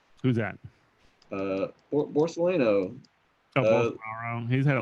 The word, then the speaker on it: Bolsonaro: I think Borsalino like used it, and he definitely got it twice. Like, who's that? Borsalino. Oh, Bolsonaro.